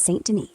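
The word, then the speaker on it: Saint Denis: Right now, Goop's out by Emerald Ranch, stirring up chaos after dodging cops in Sonden. Yep, that's Saint Den pronounced right.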